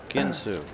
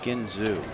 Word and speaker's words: Ginsu: the cards all dirty Ginsu Ginsu not Gino if you want to